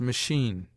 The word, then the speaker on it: machine: a consonant as Archbishop CH in some French words not yet assimilated sounds like sh as machine Shay C according to